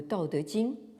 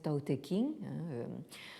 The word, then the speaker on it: Tao Te Ching: connu donc en Occident, le Tao Te Ching, qu'on prononce quelquefois à la française Tao Te King, le livre canonique de la voix et de sa vertu ou de sa puissance.